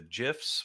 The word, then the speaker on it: GIFs: Galan Nole agent Baker with the gifs with the soft G Eed so it just